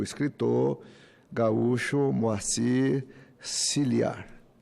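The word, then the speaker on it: Scliar: Eu falava anteriormente de Sclia, mas ontem eu vi que é Ciliar, Moacir Ciliar.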